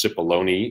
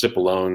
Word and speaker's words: Cipollone: Pat Cipollone is his name, and I've heard his name pronounced untold different ways, but it is Cipollone. You actually pronounce the E at the end, but it's Cipollone, Cipollone, all kinds of different ways have been said.